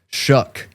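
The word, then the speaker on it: Shough: That is how you pronounce his name, I'm finding out. Shuck. With a K. CK maybe. But it's not how it's spelled at all. And again, I could be wrong on that, but I'm pretty sure that's what I'm hearing everybody say.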